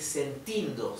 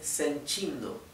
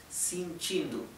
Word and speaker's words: sentindo: sencho frío sencho frío Recuerden que la t con la i se pronuncia ch chi en vez de ti bien Esto no se dice sentindo se dice sencho bien bien la e es más la e se pronuncia casi como una I sin chindo bien y la o a veces la pronuncian casi como una u sin chindu bien así que bueno